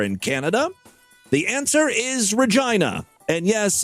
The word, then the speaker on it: Regina: Saskatchewan over there in Canada the answer is Regina and yes it's pronounced Regina the city is in the midst of a